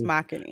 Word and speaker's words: Makini: I keep forgetting I said it wrong. It's Makini.